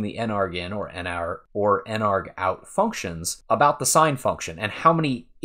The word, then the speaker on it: nargout: then we say if n ARG out equals equals one now an ARG out at least that's how I pronounce it I guess you could say narg out it's short for I